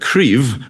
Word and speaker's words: Cryf: Thera means to treat medically, of course, as in therapeutics, and Cryf, with a V sound at the end, is strength in Welsh.